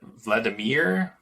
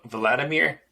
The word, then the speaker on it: Vladimir: Vladimir Putin's name like Vladimir? Vladimir? Vladimir? Yeah, Judy Twigg 5:19 that's the Russian pronounciation.